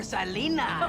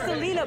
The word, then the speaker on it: Selena: he he was like anything for Salena I not Selena but Salena with an S it was weird how